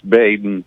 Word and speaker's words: Baden: It's Baden. Baden. Thank you. Baden. And thank you for taking my call once more. Next time you talk to Joyce, tell her to spell it Bayden, and I'll get it right.